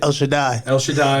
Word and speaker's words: El Shaddai: El Shaddai. Like El should die.